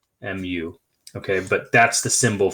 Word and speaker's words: mu: like a lowercase u with a tail it's pronounced mu mu okay but that's the symbol for mean okay